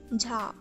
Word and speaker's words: 자: Now this is the sound of J in English, but is a lot more softer, as you might have guessed already. This again has no equivalent in English, so listen closely.